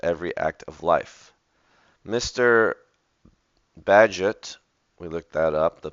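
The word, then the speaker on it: Bagehot: and interlaced With Every Act of life Mr badget we looked that up the pronunciation physics in physics and politics Endeavors to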